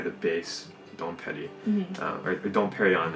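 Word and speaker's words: Dom Pérignon: base don't Petty or don't Parry on it's how you say it actually not the Japanese ways don't pity but in the club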